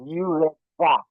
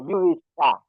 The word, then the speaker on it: urethra: Pronounce it now. Ureta. Tra, tra, tra. Urethra. Okay. Urethra.